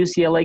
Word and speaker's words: UCLA: bastante conocido, es que en inglés sí hay que deletrar esta esta sigla, ¿sí? No no no la pueden eh no la pueden pronunciar así eh de corrido como hacemos en español, que que en vez de letrarla le decimos UCLA, por lo menos en Argentina, eh, así que es UCLA, sí, UCLA cut.